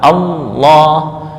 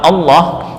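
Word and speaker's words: الله: A Allah bukan Allah. Nah, gimana bacanya? Allah. Allah. Bukan o tapi a.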